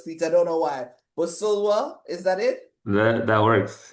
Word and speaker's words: Busulwa: Busulwa, is that it? That works, yeah. No, no, don't tell me that works. How is the That last works. name pronounced It's again? Busulwa.